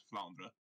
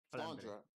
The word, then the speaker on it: Flandre: I actually, like a long time ago, a bunch of us went to a native French speaker, and he said it was Flandre. Flandre.